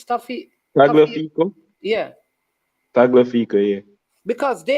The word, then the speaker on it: Tagliafico: What was his name pronounced? Staffy. Tagliafico?